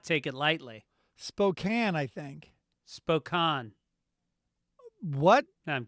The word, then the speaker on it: Spokane: in a spanish-speaking country how do you say s-p-o-k-a-n-e washington right i think i just saw that did someone write in with that pronunciation i i was there and i said